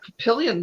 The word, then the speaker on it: Papillion: Nebraska it's not Bellevue we have Papillion Nebraska it's not happy all you know there's Pierre